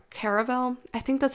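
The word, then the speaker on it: Caraval: read this book called caravel i think that's how you pronounce it the book is called caravel or carnival it looks like carnival but it's called caravel it's c-a-r-a-v-a-l caravel i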